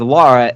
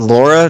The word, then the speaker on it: Lara: her name is Lara, Lara. Yeah. I if I heard somebody say Lara, I would be like, yeah, that's okay. But Laura, no, No. that's just saying it wrong.